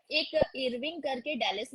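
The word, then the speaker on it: Irving: इरविंग, इरविंग, अरवाइन नहीं है, इरविंग। अब people pronounce in their way, बट इरविंग, American भी इरविंग ही बोलते हैं, नॉट अरवाइन।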